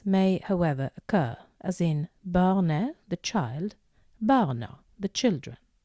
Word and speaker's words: barnet: Et barn, barnet, the child. Pay attention to the pronunciation here. It's barne, not barnet. The T is silent at the end.